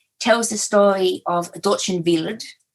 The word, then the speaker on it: Wild: Another one of my novels, The Wild Girl, tells the story of Dorchen Wild, which is pronounced Wild, but is spelt wild and means wild.